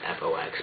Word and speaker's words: F.O.X: actually fox it's funeral outside me and it's pronounced fox but um i'm going to call it fox